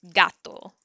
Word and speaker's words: gato: it's a g sound so like gato means cat you hear it as a g and and then after